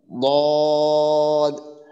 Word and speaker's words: ضاد: 32টা দাঁতই আছে, তো তাদের ক্ষেত্রে সামনের দিকে ডান দিকে 5টা, বাম দিকে 5টা, পিছন থেকে নিয়ে সামনের দিকে 5টা, ডান দিকে 5টা, বাম দিকে 5টা, মোট এই 10টা দাঁতের গোড়ার সঙ্গে লেগে দোয়াদের উচ্চারণটা আসবে।